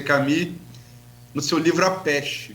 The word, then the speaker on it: Camus: No caso, Camus escreve, pronuncia Camus, no seu livro A Peste, que eu acho que exemplifica muito bem o momento que a gente está vivendo aqui agora.